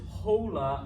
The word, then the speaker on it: hola: gracias no sound what's that word you pretend the h is not there okay any of you guys pulled this hola on me all right yeah you're gonna lose points all right the h is silent it makes no sound whatsoever okay quinoa okay now here's